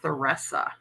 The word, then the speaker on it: Theresa: Um, it's spelled Teresa, but it's called Thoressa.